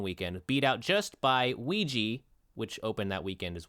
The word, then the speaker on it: Ouija: this debuted at number two it made 14 mil in in one weekend beat out just by ouija which opened that weekend as well oh yeah